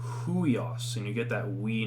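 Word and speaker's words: υἱός: uh as i said this upsilon yoda is like that we noise so we pronounce this huios i'll give you an introduction to breath marks later which indicate where you you would pronounce an h um but just looking at this is like ueos now you need the h so it's huios and you get that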